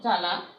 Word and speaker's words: জ্বালা: যেমন দ্বিতীয়, দ্বিতীয়, ত্বক, ত্বক, জ্বালা, জ্বালা, মানে ব উচ্চারিত হয় না।